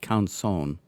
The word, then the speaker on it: Canson: thought maybe it was kansan so i googled it and apparently the french way to say it is more like conson and since it's a